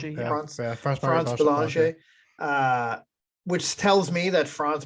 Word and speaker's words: France Bélanger: Is that how you France pronounce it? Bélanger, yeah. France Bélanger.